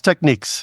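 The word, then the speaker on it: Technics: brand that has been around forever is it pronounced technices techniques it's techniques techniques that's that's what I was thinking so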